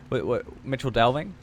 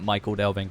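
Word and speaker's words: Michel Delving: Mitchell Delving. I was so used to calling it Michael Delving for the joke, but yeah, basically it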